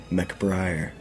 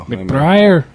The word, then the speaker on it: McBriar: Please pronounce it. McBriar. That's a very what is sounds Scottish. Yeah, I think it's Scottish. I honestly don't know. McBriar.